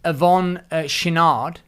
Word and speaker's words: Yvon Chouinard: Well, I believe it's pronounced Yvon Chouinard, but ultimately, however it's pronounced, he's the founder of Patagonia.